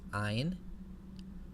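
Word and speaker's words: ע: For our purposes, the ayin is pronounced just like the aleph, so it sounds like the glottal stop in a word like honest. In ancient Hebrew pronunciation and in modern Arabic pronunciation, the ayin has a distinct sound from the aleph, but for the purposes of biblical Hebrew, we can pronounce them the same.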